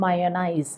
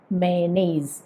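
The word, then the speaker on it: mayonnaise: പലപ്പോഴും നമ്മളിത് പറയാറുള്ളത് മയോണൈസ് അല്ലെങ്കിൽ മയോണൈസ് എന്നൊക്കെയാണ്. അങ്ങനെ അല്ലാട്ടോ ഇത് പറയേണ്ടത് മേനൈസ്, മേനൈസ്. അപ്പോൾ ഇവിടെ ഒരു കാര്യം ശ്രദ്ധിച്ചോ, ഈ വാക്കിലൊരു വൈ വരുന്നുണ്ട്, പക്ഷെ ആ ഇയ എന്നുള്ളൊരു സ്വരം അവിടെ വരേണ്ടതില്ല.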